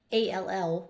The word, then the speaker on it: all: So a l l, well, it's it's a closed syllable, one vowel closed in by one or more consonants. So we would expect that would be the short sound a. But it's actually making the short o sound all.